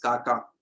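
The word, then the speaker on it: Xaxa: XA लिखते हैं, लेकिन इट इज प्रोनाउंस्ड एज काका। तो XA लिखा जाता है, लेकिन बोला जाता है काका।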